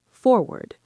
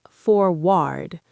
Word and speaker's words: forward: In American English, this is often pronounced forward, not forward.